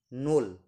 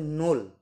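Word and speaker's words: ноль: সবার প্রথমে পাওয়ার জন্য চলুন শুরু করা যাক নোল নোল উচ্চারণটা হচ্ছে নোল মানে জিরো উচ্চারণ হচ্ছে নোল নোল মানে জিরো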